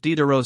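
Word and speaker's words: Diderot: I, your reverence, am like the filis of Dero 6. He pronounced the name to rhyme with rot.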